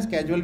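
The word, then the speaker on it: schedule: अब वो नीचे इसका पूरा ये है, ठीक है, शेड्यूल भी बोलते हैं, स्केजुअल भी बोलते हैं, स्केजुअल दोनों सही प्रोनाउंसिएशन है।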